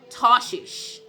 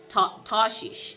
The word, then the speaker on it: Tarshish: to the city of tashish tarshish that's how you say it in tashish okay and